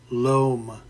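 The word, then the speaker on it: loam: it is the fertile LOM rhymes with home by the way of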